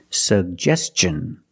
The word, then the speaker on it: suggestion: And the second G is the J sound like juice and jump. Pronounce both. Suggest. Suggestion. And Tio N. The T makes the ch sound. So together. Suggestion. Suggestion. Put the stress on the second syllable.